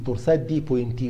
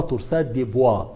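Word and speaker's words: torsades de pointes: دي تورساد دي بوينتي، ينطقوها كده الانجليز تورساد دي بوينتي، الفرنساويين ينطقوها تورساد دي بوا، براحتك كده بتتنطق وكده بتتنطق.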